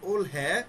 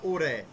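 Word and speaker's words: 올해: ওল ওল হ্যাঁ বা ওরে, রিয়লটাকে আপনারা হিয়তের কাছে নিয়েও আসতে পারেন, আবার রিয়ল যেখানে আছে সেখানে রেখে উচ্চারণ করতে পারেন। দুইভাবে চলবে, কোরিয়ানরা দুইভাবে উচ্চারণ করে, ওরে বা ওল হ্যাঁ, দুইভাবে আছে।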